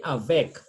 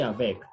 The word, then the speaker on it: avec: A consonant is only read except the word avec. Avec, this one you say avec. This is a preposition, okay? That's a preposition, so we say avec.